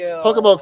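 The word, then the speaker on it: Pocomoke: Pokemoke? Is that how you say it? Pokemoke? Yeah. Pokemoke Forest is hi from Maryland.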